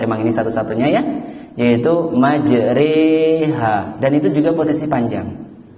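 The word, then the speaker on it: مَجْرٰىهَا: ayat-ayat yang di luar jadi majreha walaupun harokatnya adalah fathah ya walaupun harokatnya fathah itu cara bacanya Bismillahi majreha wa mursaha dan bacanya juga Mad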